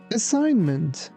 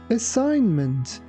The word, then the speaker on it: assignment: Be careful that letter G is silent.